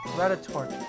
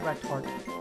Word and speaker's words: Rattatart: Rattatart, not Rattart.